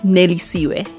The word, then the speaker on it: Nelly Siwe: Nelly Siwe. Nelly Siwe. Yeah. The way you say it is the way you spell it.